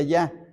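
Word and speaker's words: Jah: A veces en los salmos aparece ja, J-A con una H, ja, se pronuncia ya.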